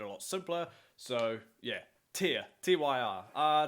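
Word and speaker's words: Týr: they are that's how I'm going to pronounce their name Tia as in teardrop however if you ask the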